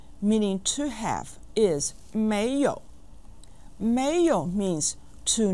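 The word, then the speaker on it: 没有: to have is Mayo mayo means to not have and is pronounced with the second and the third tones listen Mayo Mayo Mayo repeat after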